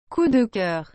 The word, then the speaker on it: coup de cœur: He describes it as coup de coeur, coup de coeur, coup de coeur. We'll come back to that. I'm gonna figure out the pronunciation. Coup de cœur.